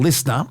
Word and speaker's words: LiSTNR: He has a new podcast coming up on Listener, L I S T NR.